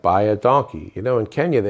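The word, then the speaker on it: baie dankie: it in Afrikaans but it means thank you enough for Khan just like thank you but it sounds like by a donkey you know in Kenya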